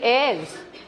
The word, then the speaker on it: heir: It couldn't possibly be that he didn't have any heirs. Do you understand the word heir? Huh? The h is silent.